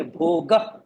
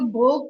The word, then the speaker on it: भोग: भोग यानी ग भी नहीं, ग ह है, पर ह जोर से आपने ज्यादा स्ट्रेस नहीं दिया है, खाली आपने ग के ऊपर थोड़ा वजन दे दिया.